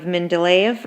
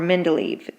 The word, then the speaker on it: Mendeleev: by the name of Mendeleev or Mendeleev both ways are usually accepted for pronunciations he was the first